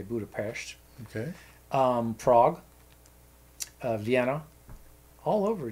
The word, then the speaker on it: Budapest: Budapest, or Budapest as it's spelled, but there they say Budapest.